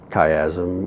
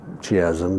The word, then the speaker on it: chiasm: that's called the optic cayazm or chiasm depending upon how you pronounce it.